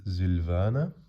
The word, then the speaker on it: Silvana: nice next up the silvana also very very nice and well you might notice i say z instead of s like sylvana or sylvan because that's how the germans would say it so midway this video